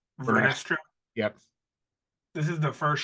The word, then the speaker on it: Vernestra: How do you pronounce her name? Vernestra?